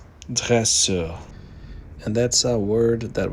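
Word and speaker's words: dresseur: And here is a nice word uh which is trainer in French and the pronunciation is dresser.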